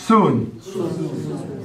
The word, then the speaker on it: Sun: Now, S-U-N, son is soon. Not even the sun that shines up there didn't even pronounce the same. It's a soon, not a song.